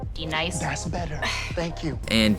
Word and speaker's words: D-Nice: You say your name right now. Denise. Say it right. Denise. Correctly. Denise. Right. Denise. Right. D-Nice.